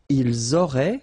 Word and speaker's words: ils auraient: Ils auraient, so liaison here. Elles auraient. And then look, if you've got A-I-E-N-T, then phonetically it goes like aurait.